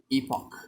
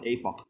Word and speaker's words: epoch: how you pronounce it i don't know how to which which which pronunciation is the correct one but i in my case um i just go with the epoch epoch not apoc epoch epoch so most of you